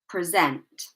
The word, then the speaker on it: present: Right, so second syllable, we're placing the stress here. So instead of decrease, it will be decrease. Decrease. Okay, the stress is on the second part.